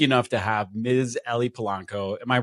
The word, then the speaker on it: Polanco: Ellie Polanco. Am I pronouncing your last name properly?